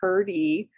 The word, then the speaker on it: Hrdy: unusual name um olinka hurdy h-r-d-y which is pronounced herdy and her family was of check descent in